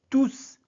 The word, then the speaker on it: tous: Faites attention à la prononciation. Dans cet emploi, tous est un pronom. Donc, on prononce le S. On dit bien, je les ai tous félicité.